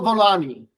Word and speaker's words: Volani: you and uh first of all am I pronouncing your your name correctly perfect yeah volani volani exactly okay and you know what